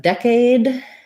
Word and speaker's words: decade: Decade has first syllable stress. Letter E says the sound. And then this A is the A diphthong. Sounds like A because the letter E makes the A say its name. That's one of our spelling rules. And so we want to make sure we have a long A on that, decade.